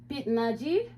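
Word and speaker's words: 빛나기: i c h but when there's a CH H at the end of a syllable then it just sounds like a t so it's more like pit Nagi pit Nagi it means sparkling so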